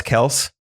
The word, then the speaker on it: Kelce: It's pronounced Travis Kelce.